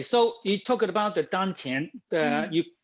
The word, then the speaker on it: dantian: the dungeon okay so he talked about the dun tin uh you pronounce absolutely correct that is this is two